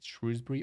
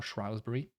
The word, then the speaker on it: Shrewsbury: say Shrewsbury I think there's been a debate is shrewbury or shury to me the spelling would suggest shrewbury but spelling is not really the way to determine pronunciation in English anyway uh in Herford